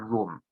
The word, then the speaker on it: Rum: see the use of this word Rum, which is the Seljuk pronunciation of Rome, because to them, Anatolia